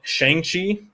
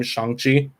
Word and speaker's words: Shang-Chi: no yeah uh uh i've been calling it shanxi since i've heard about it and then they gave the actual pronunciation of the name sanchi um fantastic movie absolutely